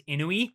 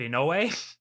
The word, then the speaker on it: Inoue: Yoli and like introduces herself with her full name, and she pronounces her last name as Inui instead of Inoue, which is it's Jim.